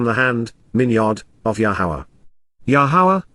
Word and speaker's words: Yahowah: Yahweh, the proper pronunciation of the name of Eloah, God has directed in his Torah, teaching regarding his higher